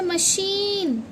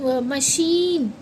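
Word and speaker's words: machine: milk ई की voice इसमें मशीन आई की वॉइस मतलब बड़ी ई की मशीन इ आ रहा है यानी लॉन्ग साउंड पेंसिल ठीक है और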